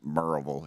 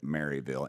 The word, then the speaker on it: Maryville: what post where is it sir marville it's pronounced merille if you're from there but it's you would pronounce it Maryville m a r y v i l l